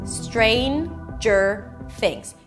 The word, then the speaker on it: Stranger Things: Stranger Things. Three syllables. The first syllable is strain. You start with s, and then you move on to the tr. The tr sounds sort of like a ch sound.